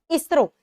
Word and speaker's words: ISRO: Same as इसरो, ISRO तो नहीं pronounce करते, की प्रोनाउंस करते हो? इसरो।